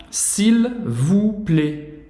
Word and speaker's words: s'il vous plaît: Então aqui os detalhes que a gente vê é s'il, a gente vai pronunciar o L, tá? Não é s'il, como em português, não, o L não tem som de U. S'il vous, não pronuncia o S, e o OU você já sabe a pronúncia.